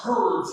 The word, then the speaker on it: herbs: Is it herbs and spices or herbs and spices? Herbs and spices. Listen, They both have H. No. Oh, well, the pronunciation is H is silent. Herbs, baby.